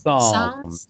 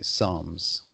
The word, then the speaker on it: Psalms: In Normally, you don't pronounce the P in front of the S in the word Psalms. Psalms. Mhm. It's usually a silent P, so you would say Psalms.